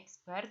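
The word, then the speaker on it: x̄: Nah, cara menghitungnya pada rumusannya ini kita bisa lihat rumusannya X bar, ini bacanya X bar.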